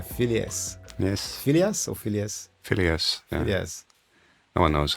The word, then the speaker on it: Phileas: Phileas. Yeah. Phileas. No one knows how it's pronounced.